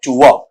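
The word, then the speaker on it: tour: तरीके से बनेगा आपका टुआ, ठीक है, ट्यूर नहीं बल्कि क्या बनेगा टुआ।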